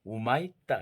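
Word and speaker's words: Humaitá: 우리나라가 모델로 삼았던 휴마이타 교도소 브라질, 거기는 천주교에서 운영했었어요. 근데 브라질 실제 가봤더니 휴마이타라는 발음을 안 하고 우마이타 이러더라고요.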